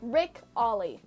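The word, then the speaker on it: Ric Olié: His name is Rick Ole. How to pronounce? What? Oh, we'll say Ollie, like the skateboard trick. All right, Rick Ollie.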